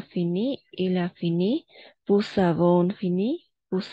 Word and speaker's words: avons: Et ici, le S, à la fin, on ne prononce jamais. De la même façon ici, le Z, on ne prononce jamais. Nous avons, vous avez.